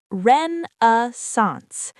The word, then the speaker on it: renaissance: For example, the Islamic Golden Age was a renaissance of science and philosophy, or there's been a renaissance of interest in Persian poetry. It's pronounced Ren-a-sance.